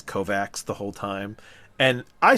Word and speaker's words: Kovacs: This is in the Kovacs novels where it's supposed to be pronounced Kovac.